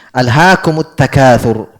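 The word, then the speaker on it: أَلْهَاكُمُ التَّكَاثُرُ: Sukun ketemu sukun diharokati, kaidah bahasa Arab diharokati yang pertama. Jadi alhaakumu at-takatsur. Jelas ya? Itu cara bacanya. Alhaakumut takatsur.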